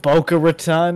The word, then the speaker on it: Boca Raton: That's not even a hard one. Baca Raton. Boca Raton, and then somebody off camera says Boca Raton, and he goes, "Oh, Boca Raton," and then like laughs it off.